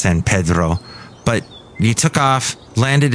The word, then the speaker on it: San Pedro: They call it San Pedro. Yes, it's pronounced San Pedro.